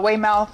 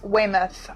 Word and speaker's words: Weymouth: And I was like, "Weymouth," and she's like, "No, it's Weymouth." I'm like, What? "It's There's spelled a U. Mouth, that is mouth, not muff."